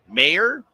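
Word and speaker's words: Maher: Sounds like Mayer. Spelled like Bill, the comedian.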